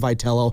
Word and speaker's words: Vitello: The guy pronounces his last name Vitello. Aren't they that's not the pronunciation. That's not the proper Italian pronunciation.